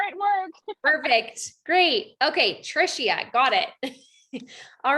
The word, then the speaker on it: Trishia: gonna start with trisha am i saying your name right tricia hopefully you can take yourself off mute no you're not saying my name right but that's okay is it tricia yes it is trisha okay perfect um can